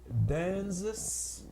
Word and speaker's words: Danzis: It's written by a David Danzis. That's spelled D-A-N-Z-I-S.